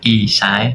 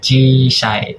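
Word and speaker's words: 小さい: Bukan isai, bacanya chisai, agak dipanjangin ya, chisai.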